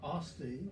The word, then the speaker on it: Asti: Well, I've learned a lot about Asti, or Asti Yes. is the correct pronunciation, Yes, I would say.